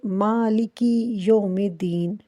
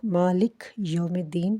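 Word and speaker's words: مَالِكِ يَوْمِ الدِّينِ: نہ کریں۔ نمبر 1، جب ہم پڑھتے ہیں مالکی یوم الدین، بہت سارے لوگ مالک یوم الدین پڑھتے ہیں جو کہ بالکل غلط ہے۔ مالکی یوم الدین پڑھنا چاہیے۔ مسٹیک نمبر 2، جب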